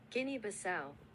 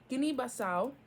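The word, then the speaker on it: Guinea-Bissau: it up Guinea country in West Africa per pronunciation oh not slow guine basau look at me go look at me go okay Guin basau in the Century Air a car wait why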